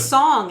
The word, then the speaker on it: Soong: and then the actors just started saying Soong because it has the double. because it has the double O.